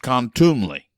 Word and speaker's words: contumely: 99% of u6 backers have never heard it's pronounced contumely contumely is showing contempt for a person by